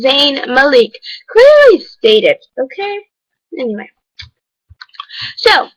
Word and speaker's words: Zayn Malik: Li VV y called zayn malik zayn malik it is not zayn malik it is zayn malik clearly stated ok anyway